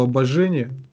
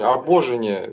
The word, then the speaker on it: обожение: благодати и показывает, что обожение даровал он, будучи Слово Божие, вселившись в них. Ибо Слав, это означает... Извини, обожение, ударение обожение. Да, обожение, точно.